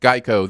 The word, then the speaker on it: GEICO: now a gecko yes yes even though it's pronounced geico their their mascot is now a gecko gecko